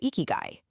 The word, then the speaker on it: ikigai: Eeky guy. That's pronounced eeky guy.